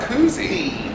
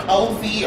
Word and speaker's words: koozie: I never knew it was koozie. Yeah. I think I had called it a cozy or something else before.